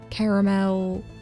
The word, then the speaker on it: caramel: a piece of caramel caramel and rhymes with carousel.